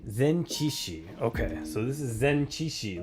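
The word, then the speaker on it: 前置詞: Zenchishi.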